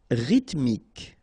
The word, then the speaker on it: rythmique: Rythmique. Remember, Y pronounced like I and then H doesn't exist. Rythmique.